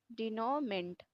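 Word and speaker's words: denouement: तो डी नाउ, इसका spelling आता है इसलिए इसे याद रखिए, DENOU, डिनाउ, ठीक है, डिनो ई, डिनोमेंट।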